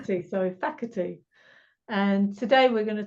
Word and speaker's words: Facherty: Alison Marson and I'm here with Phantom Mike bti bti is that how you pronounce it why not it's faky but close enough F soorry faky and today we're going to talk about our